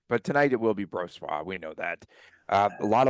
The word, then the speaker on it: Brossoit: Okay, so I sent you yesterday the official pronunciation of Laurent Brossoit, and everyone now is called on to Brossoit.